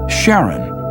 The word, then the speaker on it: Charon: in Greek mythology, but preferred to pronounce it Sharon, more like his wife's name, Charlene. From the motions of Pluto and Sharon, astronomers could work out